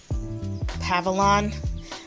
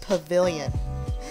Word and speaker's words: pavilion: I remember last time on the Christmas episode, I said Pavilion. I figured it out. It's pronounced Pavilion.